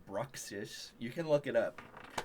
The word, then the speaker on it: Bruxish: unboxing vids there's this one pokemon it's called bruxish you can look it up how the do you spell that b-r-u-x i-s-h approximation bruxis yeah okay but